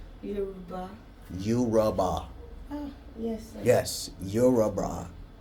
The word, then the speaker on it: Yoruba: I'm a proudly Yoruba babe. A what? Yoruba. Say it slowly. Yoruba. Yoruba.